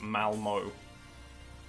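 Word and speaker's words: Malmö: Malmo is pronounced Malmo.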